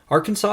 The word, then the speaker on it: Arkansas: same root world word Arkansas is pronounced differently with a silent S at the end because it has been gallicized turned French French fur Traders pronounced